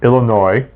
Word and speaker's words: Illinois: Jubilee Cafe in Kickapoo Illinois if you don't pronounce the S I finally got that